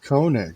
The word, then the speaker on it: Koenig: her last name is Koenig right am I pronouncing that right Koenig Koenig yes Koenig all right so the Fatal air uh the